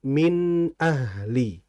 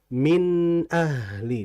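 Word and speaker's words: مِنْ أَهْلِ: Nun mati kalau bertemu hamzah disebut dengan izhar. Dan dalam membacanya nunnya harus jelas. Min ahli. Min ahli dijelaskan.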